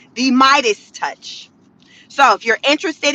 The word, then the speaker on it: Meidas: The YouTube channel is called The Midas Touch. That's spelled MEIDAS and then the word touch.